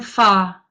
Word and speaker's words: fa: You're going far, Vi. Far. Far. That's far with British rather than American pronunciation. Pretend the R isn't there.